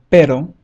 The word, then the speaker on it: pero: The softer one is as in rhino, rhino. For example, we have the word pero, pero, that means but.